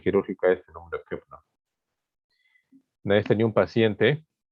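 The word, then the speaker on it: Köbner: Koepner se escribe, ¿no? Con K y kilo. Koepner, ¿no? Pero es Koepner.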